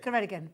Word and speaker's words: Ceredigion: I was told by someone how to... Ceredigion, that's it. Ceredigion. That's how someone told someone to say it.